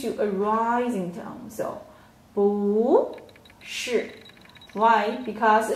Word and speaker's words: 不是: So, 不是. Why? Because 是 is a falling tone. So 不 before 是不 will change to a rising tone. Okay, so 不是不是 Yeah, so in this